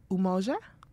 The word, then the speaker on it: Umoja: Today is the first day of Kwanzaa, and I don't ever know if I pronounce it correctly, but it's Umoja, I believe, You got which it right.